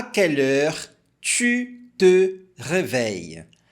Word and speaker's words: tu: Você vai falar a letra I e fazer o biquinho ao mesmo tempo. U. Falando tu.